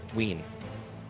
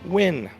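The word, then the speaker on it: Wynne: Irena Ween. Ween. Ween. W-Y-N-N-E. Win. Ween. Pronounce Ween. Win. We can go with it. Okay, it's fine. It's Win. Unless you want another Ween for us to make fun of.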